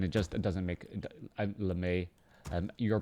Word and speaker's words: LeMei: all related and it just it doesn't make la may um you're pronouncing it well i mean lemay all right thank you very much um i